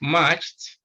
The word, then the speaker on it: matched: so when you you talk of matched the sound here is t matched then left again you